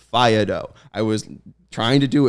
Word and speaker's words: Faedo: The A is A, the E is A. Faedo.